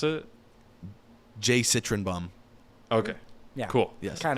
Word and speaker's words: jcytrynbaum: able to understand so there you go no pronounce it Jay citroenbaum okay yeah cool yes and then uh I